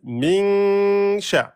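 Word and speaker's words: مِنْ شَرِّ: Hein, on fait 2 temps sur le noun, min sha, avant de prononcer le sha. Min sha. Soit vous collez la langue au palais parce que vous n'y arrivez pas, mais vous le faites bien en 2 temps.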